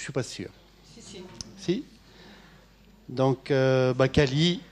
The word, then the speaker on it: Cali: Signor Cali mi permetterà un caloroso saluto in italiano.